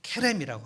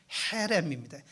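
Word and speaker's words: חרם: 이게 제가 여러 번 설명했는데 케렘이라고 하는 뜻입니다. 헤렘입니다. 헤렘, 케렘. 그래서 히브리어가 이렇게 알파벳이 이렇게 되어 있는 거는 히읗과 키읔을 같이 헤렘이라고 읽어야 되거든요.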